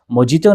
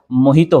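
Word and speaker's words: mojito: तो यह भी प्रोनाउंसिएशन गलत है। मोजितो नहीं होता है। मोहितो होता है।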